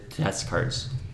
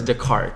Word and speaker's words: Descartes: Test cards, right? Oh, don't say it like that. It's Descartes.